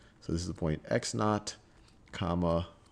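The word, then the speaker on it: x₀: So let's say that this point right over here, this x value is x sub, well, this is pronounced x naught, or this x sub 0 is just x naught.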